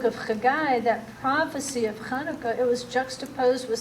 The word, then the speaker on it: Hanukkah: includes our return see kanuka and you don't have to pronounce it like that I think he'll do with Hanukkah just know it's a pronunciation test like cila if you